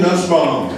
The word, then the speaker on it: Nussbaum: Nussbaum, and Donnie told me not to say this, rhymes with fussbomb.